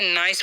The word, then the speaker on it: nice: तो इसे हम क्या पढ़ते हैं, नाइस पढ़ते हैं।